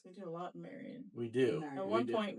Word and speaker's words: Marion: Yeah, people Marion. They do like a U instead of an AR.